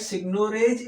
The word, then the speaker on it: seigniorage: यानी ये आपकी इक्वेशन है सिग्नोरेज की, सिग्नोरेज कहते हैं, वैसे प्रोनाउंस सिग्नोरेज करते हैं।